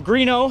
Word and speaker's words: Greenough: You know, Adam Greenough had the Greenough Industries, who was our main builder. His name is spelled different, g r g n o n, which is pronounced Greenough.